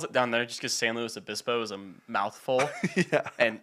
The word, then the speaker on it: San Luis Obispo: San Luis Obispo? San Luis Obispo, slow, yeah, whatever. Okay, slow. Slow's like the... Slow's like, it's what everyone calls it down there just because San Luis Obispo is a mouthful.